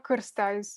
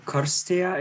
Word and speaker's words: Cîrstea: Yes, Cârstea it's how I would pronounce my name in my native language. So Karstea is how you say your last name?